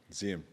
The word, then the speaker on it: Zeehan: This is in Zeehan, which I'm not supposed to pronounce Zeehan. I'm supposed to, what am I supposed to? Zeehan? Zeehan. That's a Tasmanian way to say it.